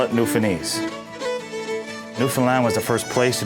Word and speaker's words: Newfoundland: It's pronounced Newfoundland, not Newfoundland or Newfoundland.